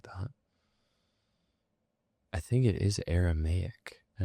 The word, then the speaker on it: Aramaic: Aramaic.